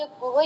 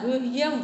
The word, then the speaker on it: गुह्यम: राज विद्या राज गुह्यम करके बोलते हैं, कुछ लोग सीधा गुहा बोल देते हैं लेकिन गुहा नहीं होता, यम लगता है उसमें, हा के पास